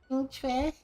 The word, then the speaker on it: Qingque: Qingque? That's how you say it. I bought this character. I just didn't know you pronounce her name.